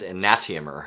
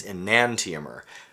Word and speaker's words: enantiomer: enantiomer, By the way, I've heard people mispronouncing it on YouTube as enantiomer, and that's not right. It's enantiomer. Why?